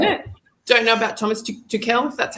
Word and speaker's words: Tuchel: Don't know about Thomas Tuchel, if that's how you say it, from Germany, I think. Thomas Tuchel, yep.